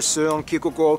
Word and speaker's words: Søren Kierkegaard: Back to culture though, Denmark has definitely left its mark, whether it's notable figures like author Hans Christian Andersen, philosopher Søren Kierkegaard, or whether- Can you pronounce his name?